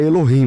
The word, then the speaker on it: Elohim: Vocês falam Eloquim, mas eu o termo é Elohim, né? Na verdade, é no É, é, é que no lugar do K é o H, né?